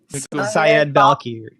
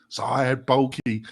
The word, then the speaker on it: Syed Balkhi: Can you pronounce the gentleman's name? Syed Balkhi. Balkhi. Yeah. Syed Balkhi.